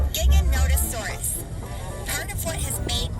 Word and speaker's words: Giganotosaurus: Dinosaurs, but its name is pronounced Giganotosaurus.